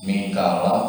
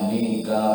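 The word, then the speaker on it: ميكائيل: Dan ada juga yang versi yang ketiga itu tanpa nganggu ya. Jadi tetap pakai hamzah tapi tidak pakai ya. Jadi bacanya Mikail gitu. Cekak. Hamzahnya itu dibaca cekak.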